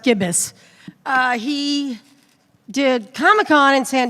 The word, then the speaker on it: Gibis: My friend Tom Gibis here, it's pronounced Gibis, he did Comic-Con in San Diego with Zion